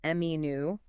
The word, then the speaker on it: menu: You want to stress that first syllable, menu. Let the second syllable be a little softer, almost like an sound.